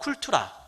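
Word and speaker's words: cultura: 이 라틴어 쿨투라, 독일식으로 얘기한다면 쿨투어라 이렇게 발음하는데요.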